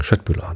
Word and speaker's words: Köttbullar: Ich finde ja, den könnte man mal die korrekte schwedische Aussprache beibringen. Köttbullar natürlich.